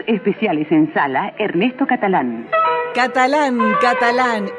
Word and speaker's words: Catalán: en sala Ernesto Catalán Catalán Catalán ese acento en la segunda a es sin duda un